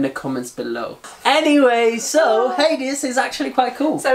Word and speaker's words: Hades: Hades. No, but it's pronounced Hades.